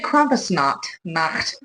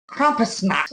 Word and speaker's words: Krampusnacht: Oh, I would say Krampusnacht. Krampusnacht. You know, it's like a... So it's a Krampus night. It's what they're saying. It's like you have a hairball.